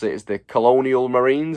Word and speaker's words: Colonial Marines: pronounce it, is the Colonial Marines. Is that how I say it? Someone corrected me last time. I said Colonel.